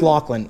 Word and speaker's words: Lachlan: talked to him today it's pronounced lachlan it's it's irish and loch means lake so his actual name is like lakeland so your name is